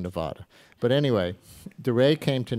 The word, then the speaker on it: Nevada: four years when those caucuses come around we say Nevada and then we go back to saying Nevada but anyway DeRay came